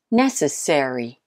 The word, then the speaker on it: necessary: carefully number three is necessary necessary which syllable the first one of course I hope you got that